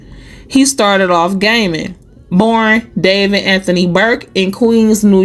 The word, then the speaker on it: D4vd: So D4 VD pronounced David is a 21-year-old American singer songwriter who transitioned from a viral internet sensation to a defendant in a highprofile criminal case.